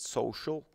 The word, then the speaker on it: SOCL: it's actually very easy you type in so.cl you pronounce it social and then you can